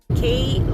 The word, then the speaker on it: Kootenay: K-O-O-T-E-N-A-Y. But it's pronounced as Kootenay. Sabi ni Jay, marami daw siyang silent. Kootenay, dapat K-U-T-N-I na lang.